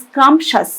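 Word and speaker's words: scrumptious: উচ্চারণটা কিন্তু খেয়াল রাখতে হবে, স্ক্রাম্পশাস।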